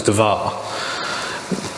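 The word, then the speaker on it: דבר: the Holy of Holies can be called the Devere and remember we've talked about how Hebrew uses consonants only and then you sort of append of the vowels to it to make it a pronounceable word well Devere if you take away the vowels there's something DVR inning in English letters if you if you append a a to the division becomes devar which means to talk to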